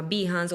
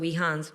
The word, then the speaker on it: Behance: diseñadores y creativos, hay una plataforma que se llama Behance o Behance, hay gente que lo pronuncia de las dos maneras, donde los creativos subimos nuestro portafolio.